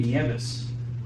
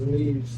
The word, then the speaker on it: Nieves: going to do, because they named me Nieves, right? That's why I go by, because my real name is like really hard to I pronounce. always thought it was Neves. Yeah, exactly. Most people say Nevis or I was Nives.